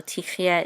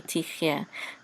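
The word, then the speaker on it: תחיה: This is t, and this is a chet with a shava. And this is going to be silent, so we're going to say tich, tich, and this is a yud with a sagol, and this is silent, yeah, tich, yeah, and this is related to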